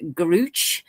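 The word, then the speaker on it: Grusch: footage, but I'm not sure how to actually pronounce this guy's name. Whistleblowers such as David Gruch continue advising Congress.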